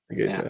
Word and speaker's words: Vegeta: for me, my European, it's like, Vegeta, not with a G. So yeah, sorry. Oh, how do you say it? How do you say it in the way you say it? Negata? Vegeta.